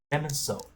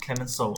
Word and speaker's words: Clemenceau: Clemenceau. Yeah, Clemenceau. Okay, Clemenceau.